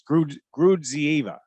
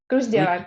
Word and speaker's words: Gruzdieva: It's Gruzdieva. Gruzdieva, yeah.